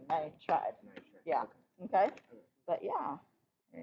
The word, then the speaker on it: nitride: It's always just the first syllable. First syllable and then ide. Syllable. And bull. Then ide. So it would be, it's always like phosphide, not phosphoride. Oh, okay. Okay? Yeah. So similarly, like we didn't have nitrogide, we had nitride.